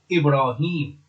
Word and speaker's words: Ibrahim: the clan it is held as in as pronounced in Arabic Ibrahim whereas in the second chapter is ever ahem